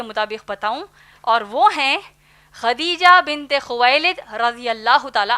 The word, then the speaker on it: خدیجہ: ہم عام طور پر ان کو ختیجہ کہتے ہیں، دراصل نام ہے خدیجہ جس کے ہجے ہیں